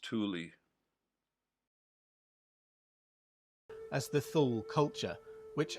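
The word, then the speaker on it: Thule: T H U L E is pronounced Tuli. As far as I know, that's the only way I've ever heard it pronounced. Tuli, not Tul.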